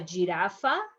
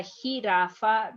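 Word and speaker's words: jirafa: not grandero is grangero he like hiraffa is not a giraffa is a hiraffa because remember is the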